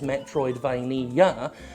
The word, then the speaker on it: Metroidvania: Five syllables! That was one of the criticisms, five syllables. BUT, in that self-same article, that criticized "Metroidvania" having five syllables, "meh troid vain ee ah" they also pointed out